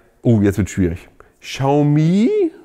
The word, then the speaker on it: Xiaomi: Xiaomi, ich glaube, so spricht man es richtig aus, bei Xiaomi, sogar Autos bauen, ja?